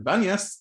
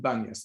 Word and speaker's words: Banyas: And with the years and with the Arab population that lived here, it turned from Panias to Banyas, because in Arabic, you don't pronounce P.